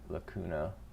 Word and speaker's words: lacuna: it always auto capitalizes la l-u-h k-o-o and u-h no that's how i write out the uh pronunciations of stuff so good good lacuna lacuna matata that's how we'll remember it the wide wade plain